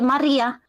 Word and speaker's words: Maria: It's the same like if I say my name, I would say Maria, like with an R.